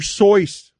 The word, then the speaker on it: Seuss: Seuss's name is pronounced dr. sois but do you think the Chuck Pagano left